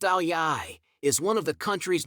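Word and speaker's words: áo dài: number one number one Vietnam Vietnam's national dress pronounced aliyai is one of the country's most striking symbols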